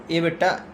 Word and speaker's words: EBITDA: इबिटा ई बी आई टी डी ए ईबिट है ना T silent हो गया।